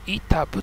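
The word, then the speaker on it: 飯給: ご飯の飯に給食の給と書いて板部と読みますね。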